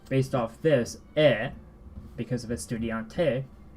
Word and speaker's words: estudiante: So I'm underlining it here because there's actually 2 E's in this word. At the beginning, estudiante. Well, they're the same pronunciation actually. Estudiante. Listen to it. Estudiante. Te. Like estudiante. I'm not gonna fuse them like that, but the E sound here is just Estudiante.